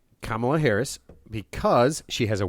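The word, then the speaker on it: Kamala: I I Yeah, he said that the person who should not be president is Camala Harris because Say her name right. She's a black woman. Kamla Harris because she has a weird laugh.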